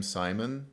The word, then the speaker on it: Simon: sign related after all my name simon does rhyme with sign man thank you for your